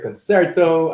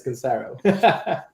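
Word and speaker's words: Concero: is it is oh we have so much confusion about pronunciation I've heard them all I've heard concerto I've heard conero and all that but it's conero so basically we're a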